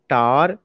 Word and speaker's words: tower: इज a word शार, देर इज a word टार, देर इज a word फ्लावर. When I was the student of UP board, always I pronounced shower, tower, flower. आप ये बताइए, जब आप इसको शावर टावर फ्लावर पढ़ेंगे तो इसमें एक सिलेबल निकल रहा